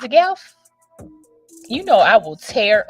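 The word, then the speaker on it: Gauff: I say her name right right it's a gelf you know I will tear up somebody's name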